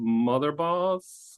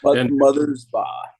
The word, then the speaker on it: Mothersbaugh: 2 sets of brothers in there, Mark and Bob Motherboss. How do you pronounce their name? Motherboss? Mothersbaugh.